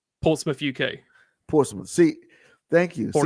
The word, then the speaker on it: Portsmouth: That's so good to see that's international because people see how it's spelled and they say Portsmouth. Portsmouth. Yeah. Yeah, Portsmouth. and like, no, Yep. it's Portsmouth.